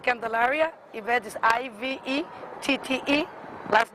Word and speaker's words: Candelaria: Now, and part of this, your name again, but spell your name, pronounce it and spell your name. Yeah, I mean, my name is Yvette Candelaria.